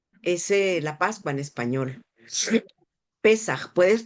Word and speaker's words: Pesaj: Pesaj. Puedes pronunciarlo.